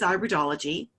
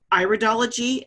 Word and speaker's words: iridology: this is actually pronounced iridology not iridology okay so it's not iridology it's iridology so that's an a long I at the beginning of the word not a sure I